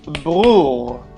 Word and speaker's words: bror: As you can see, there is a difference in the pronunciation of the letter R and the pronunciation also on the intonation and the, I don't want to say melody, but the chanting of the word.